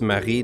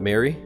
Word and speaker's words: Marie: It's spelled like IE, so it's Marie, not Mary.